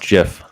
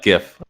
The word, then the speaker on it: GIF: here's a good one it's pronounced jiff no incorrect no bad that that is peanut butter here's my problem with here's my problem with uh gif when people say it i think they're saying gift like a birthday gift